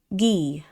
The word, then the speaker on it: Guy: With more shouting than the other guitarist vocalist Guy pronounced G. So Gee, who has a more higher singing quality?